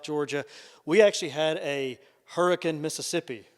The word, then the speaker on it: Hurricane: Spelled Hurricane, but it's pronounced Hurricane in these parts.